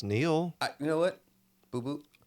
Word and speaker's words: Neal: And, you know, you scan your badge, and she goes? And I said, I am not a river in Egypt. What? She goes, how do you say it? It's Neal.